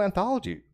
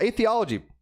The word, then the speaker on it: atheology: watkins he is the host of the real anthology real a theology podcast that's how you pronounce it and he was nice enough to